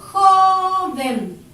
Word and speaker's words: joven: Por ejemplo, joven. Se carga la voz aquí, sobre la O.